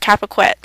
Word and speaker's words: Carpiquet: Juneau Beach was attacked to get the airfield at Capaquet. Capaquet is spelled CARPIQUET.